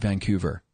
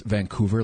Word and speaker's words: Vancouver: And thank you for pronouncing it Vancouver. It means a lot. What do other people say? Oh, well, down here it's Vancouver, like Hoover. As opposed to that soft little U.